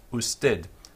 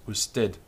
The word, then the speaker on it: usted: you, and this is usted. I'm going to pronounce it with a clear D sound on the end, although sometimes you hear that sound is much softer.